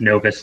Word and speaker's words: Novus: novus Nov is it is pronounced Novus not anonymous oh that's so that's